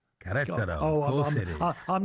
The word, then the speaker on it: Querétaro: Good, thank First of all, tell me how to pronounce the name of your club correctly. Querétaro. Querétaro, of course it is.